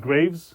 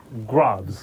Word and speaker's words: Graves: And then the other one was Graves. Oh no, that's how numbnuts pronounce it. Graves. Grav. Yeah.